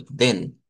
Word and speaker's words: den: Vamos a pronunciarles como den. Si fuésemos al alfabeto fonético, ahí entraría en cuestión de que esta no es la e del español, sino que es una e abierta, como la e del inglés.